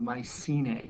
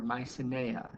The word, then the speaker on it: Mycenae: He goes and he starts the city of Mycenae or Mycenae, depending on who you want to listen to the pronunciation.